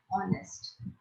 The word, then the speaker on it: honest: So that is the reason we have written A and before the word honest. Here H is silent. There is no sound for H.